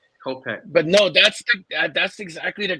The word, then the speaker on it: Kopech: I think I've been calling him Kopesh. I think I've had the name wrong. Kopech.